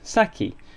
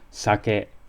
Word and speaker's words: sake: get mangled for example no one seems upset in the slightest that this word is pronounced saki instead of the Japanese sake nor does karaoke lead